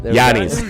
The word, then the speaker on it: Giannis: Pronounce his name. Let's see. Giannis. Giannis.